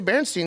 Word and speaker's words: Berenstain: Berenstain Bears. Is that how you're supposed to say it? No, you're supposed to say Berenstein because that's how the names are, but it's spelled Stain. It's spelled Stain out.